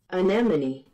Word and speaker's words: anemone: go anymore i choose you i'm so sorry anemone there's only one right way to say this